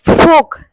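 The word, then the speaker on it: folk: তারপর ফোক, ফোক, এল এর উচ্চারণ হবে না।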